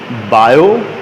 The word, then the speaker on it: Biot: बायो spelling लिखते हैं BIOT, है ना, पढ़ते बायो हैं, बायो-सावर्ट लॉ।